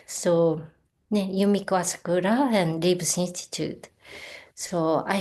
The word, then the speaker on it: Asakura: any people who are not Japanese to just pronounce or remember. Uh, Asakura is Asakura, but you don't want to remember.